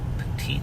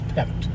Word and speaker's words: Pettit: Petite Street. I guess it is petite. Pronounce Pettit. Pettit?